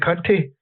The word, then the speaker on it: CUNT13: It reads like Cunt 13, but you pronounce it Cunty.